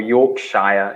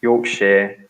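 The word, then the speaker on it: Yorkshire: they're saying it's fine they will say Worcestershire or York Shire you're shy be the best example because it's a very big County in the UK it's quite famous I don't know as counties go it's quite well-known and we say share York share with stirs yeah yeah yeah it's like it's not really the Shires the shire sounds like the Lord of the Rings yes it reminds me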